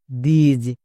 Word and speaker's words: this: দিজ। কারণ এখানেও আই এস আছে।